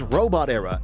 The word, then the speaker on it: Robotera: Number 3, Robot Era. Number 3 is Robot Era, and yes, that's how you pronounce it, as 2 words, robot and era.